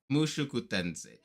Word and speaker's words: Mushoku Tensei: Mushoku Tensei. I think that's how it's pronounced. Please correct me if I'm wrong in my pronunciation no, of it's good. Mushoku Tensei. Mushoku Tensei.